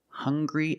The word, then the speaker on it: hungry: Also, we have these two words, hungry and hunger. They also make the same sound with the nasal sound and the hard G.